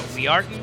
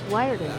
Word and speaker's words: Wiarton: So Wiarton. I said it wrong again. Wiarton.